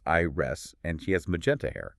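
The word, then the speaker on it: Ires: There's Ivy, who has green hair, and IRS, which is spelled I R E S, but pronounced I rest, and she has magenta hair.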